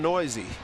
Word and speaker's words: Neuse: And if people are listening to us and they see N-E-U-S-E, and it's pronounced Noisy. Noisy. Noisy, N-E-U-S-E.